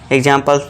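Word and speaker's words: example: तो यहां पे अब क्या होगा दोस्तों? इ जो है साइलेंट होगा। इसे हम प्रोनंसिएशन नहीं देते हैं। आवाज नहीं निकालते हैं। तो यहां इ क्या है? साइलेंट है। इसे हम कुछ नहीं बोलते। ठीक है दोस्तों? तो इसे क्या पढ़ते हैं हम? एग्जांपल।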